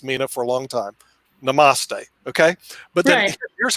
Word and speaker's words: Namaste: Pronounce it, Nick. Like Namtasi, or whatever they call it. Namtasi. Namaste. Namaste. I'll get that down.